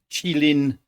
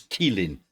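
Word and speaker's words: Qilin: how you pronounce it I did look it up I thought it was Keeling but according to all the things I could find on the web it's chillin q-i-l-i-n um and that's going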